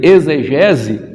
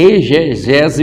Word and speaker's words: exegese: Por incrível que pareça, a gente se pronuncia muitas das vezes aí exegese, mas ela não é, porque ela vem do expor, então ali esse X ele não vai ter o som de dizer, não, é exegese bíblica, e a gente